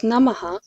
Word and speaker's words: NMH: and thus a happier community the name is pronounced as namaha which is a common word used in vedic